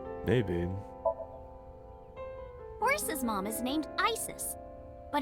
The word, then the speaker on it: Isis: horse's mom is named isis but in ancient egyptian it's pronounced closer to isa or asa hmm asap how do